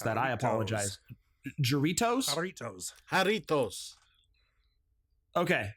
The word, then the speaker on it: Jarritos: It's made by, I don't know how to pronounce that. I apologize. Jarritos? Jarritos. Okay. Jarritos.